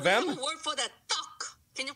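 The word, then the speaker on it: 떡: Tuck. Can you pronounce tuck, tuck, tuck?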